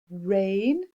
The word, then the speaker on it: reign: comes from the sky this is the reign of a monarch it's not a word we use a lot tricky ones got that silent letter in there our next word